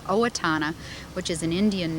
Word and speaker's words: Owatonna: I wrote it out, you probably couldn't even pronounce it, but it's called Owatonna, which is an Indian name, and it's in southern Minnesota, quite near Rochester, where the Mayo Clinic is.